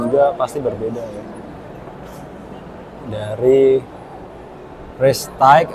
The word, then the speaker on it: Prestige: Dari Prestige atau Prestige nih bacanya. Prestige ya. Prestige.